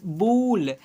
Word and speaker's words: bull: जैसे में FULL फूल, ऊ पढ़ रहे हैं, BULL बूल, PULL पूल, ऊ के रूप में उच्चारण कर रहे हैं ना, वैसा ही PUSH